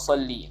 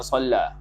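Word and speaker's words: صلِّ: Allahumma salli. Salli bukan salla. Kitab ni salah. Tak cetakan Haramain ni. Salli dengan baca dengan ejaan sallam, bukan salla.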